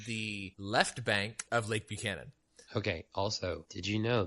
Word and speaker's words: Buchanan: No, Buchanan, like Pat Buchanan.